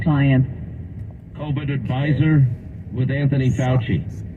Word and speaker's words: Zients: Zients? Yeah, like science.